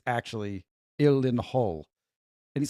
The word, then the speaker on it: Gyllenhaal: It is ill len hall. It's Swedish. I only know this because I would say Jill and all, Gyllenhaal.